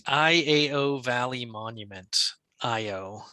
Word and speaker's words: Iao: IO is how I would pronounce that, right? IAO. Yes.